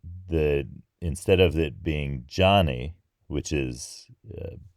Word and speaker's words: Gianni: Gianni and yeah it sounds a lot like Johnny in English it because it's the basically the same nickname it's just spelled differently it's G i a n n i Gianni and so similarly